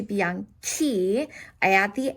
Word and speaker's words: bianchi: So a fun grammar fact that usually when I have a CI, it's going to sound like a ch, like chow, right? Okay, so if I didn't add the H in, it would have sounded like bianchi, and we don't want to do that. We want to keep the same K sound as bianco to match it. So bianco changes to bianchi.